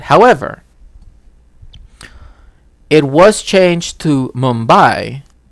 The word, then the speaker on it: Mumbai: it was changed to Mumbai right uh in the 21st century and there is still a contention because in some languages they still pronounce it uh bumbai right with the b instead of the m so you know